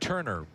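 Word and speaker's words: Toerner: right field last inning t o e r Neer but pronounced Turner out of Scottdale Arizona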